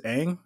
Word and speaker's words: Aang: The kid who was Aang, am I saying it right?